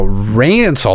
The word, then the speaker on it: Rancil: Now Rancil, like Rancil, Basil, Rancil.